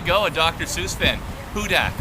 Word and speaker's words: Hudak: confusion about pronunciation uh is it is it with the bugle you hudak or is it kind of like horton here's a hudak ah there you go a dr seuss fan hudak like who dat guy